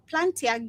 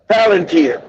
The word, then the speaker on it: Palantir: Uh, Planta, Plantia gives ice. If I'm pronouncing, I don't know if I'm pronouncing that correctly, That's Mandy.